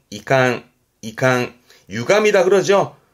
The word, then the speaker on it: 遺憾: 발음이 이게 우리말로는 유감이라 발음은 이캉, 이캉, 유감이다 그러죠. 그 마음에 있는 그런 섭섭함을 말할 때 유감이다 말할 때 한자가 이 한자, 이칸, 이 감자는 요거면 됩니다.